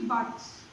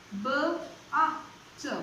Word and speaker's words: but: But, B-U-T, but. B-A-T, but. It's not bat, it's but.